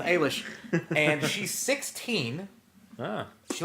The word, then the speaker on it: Eilish: Ailish I believe is how you pronounce the last name it's AI Li SH but the Google home tells me that that's Billy aylesh not Eilish so I'm gonna go with a leash and she's 16 no